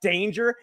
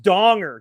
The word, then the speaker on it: Danger: Jack Danger." And he's like, "It's actually pronounced Donger. Jack Donger."